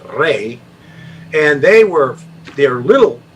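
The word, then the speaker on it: Rhade: h h yeah h r e were uh pronounced ray and they were they're little fierce little fierce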